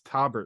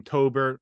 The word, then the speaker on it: Taubert: the comments were like, that's not how you say it. It's Taubert. I was calling him Tobert, whatever.